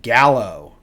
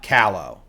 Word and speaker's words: Gallo: I'm happy for Alicia Gallo. Okay. Not Callow. Not Callow. Gallo.